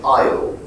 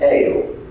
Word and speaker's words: ale: you have words like, if you were reading it phonetically in French, aisle, because it's written that way, but in fact it's ale, a drink drunk by English nobility.